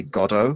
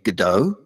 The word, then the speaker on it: Godot: years I teach theatre when I say gato which is how I learned to say it and the Americans are going you mean Godot my sure hmm okay